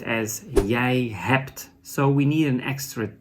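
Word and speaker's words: je hebt: is you in Dutch that is yay is pronounced as yay hapt so we need an extra T but there's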